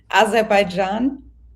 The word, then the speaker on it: Azerbaijan: Okay, teach me how to say it. What is it? Azerbaijan. Azerbaijan.